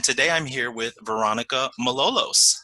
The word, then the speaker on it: Malolos: of 2020 and today I'm here with veronika Malolos how are you doing for annika I am